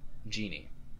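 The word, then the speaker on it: Jinn: And we also have, now, is that Jin or Genie? Jin. I would pronounce it Jin. Yes, I would pronounce a 4,000-year-old teenager, Jin.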